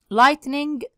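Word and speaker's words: lightning: مره عشان يثبت معاك لايتنينج يعني ظاهره البارك ظاهره البارك اسمها لايتنينج ب يلا لايتنينج يبقى لايتنينج ظاهره البارك انا عندي الجي اتش هنا يا ود سايلنت لا تنطق اكنها ايه ماتنطقش لايتنينج لايتنينج مقبس كهربائي يعني سكت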